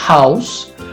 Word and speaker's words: house: Um som aspirado, como na palavra house. Observe que não é o mesmo som da palavra rato, hein? Porque a palavra rato, ela é pronunciada com uma raspada na garganta aqui, ó. Rato. Esse aqui não, é só um ar escapando, tá?